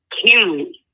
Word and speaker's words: Henry: And did you say his name is Yuri? Henry. Like King Henry?